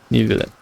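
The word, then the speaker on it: Neuvillette: I don't know how to say it in the French, but I think it's Nuvillet. Nuvillet. Like nu as in like Nuvillet. Like a light U. I think. Nuvillet. Nuvillet.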